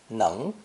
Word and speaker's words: 能: Pronounced second tone, 能, 能.